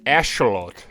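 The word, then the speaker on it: axolotl: was i wrong okay so they're pronounced ashlot okay and it's it's aztec that's the reason why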